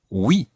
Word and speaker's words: oui: So, the word for yes is oui.